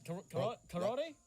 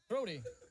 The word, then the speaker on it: Crody: Karate? Crody. Crody. Crody. You gotta say it like that.